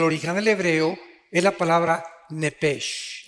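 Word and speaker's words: נפש: Digo, por favor, esta palabra alma en el original hebreo es la palabra nepesh. Apúntala, como suena nepesh, con SH. Se pronuncia nepej.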